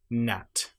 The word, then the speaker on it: gnat: So, if you have the letters G and N together, you normally will not pronounce the G. And one example might be gnat or a line.